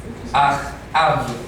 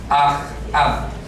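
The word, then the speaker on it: אחאב: Ahab. ¿De Israel? Sí, del norte. Se escribe así. Ahab. Como si fuera padre hermano.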